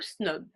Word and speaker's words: snob: Le B est généralement une lettre qui est prononcée. Des exemples seraient Maghreb ou Snob. So the B is usually a letter that is pronounced in the examples I just gave.